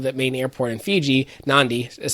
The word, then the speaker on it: Nadi: Nadi is how it's pronounced actually.